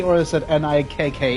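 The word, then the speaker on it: NIKKE: Nike wife who's and I Wait, is it Nike or is it N I K K E? Come here. How do you guys pronounce it?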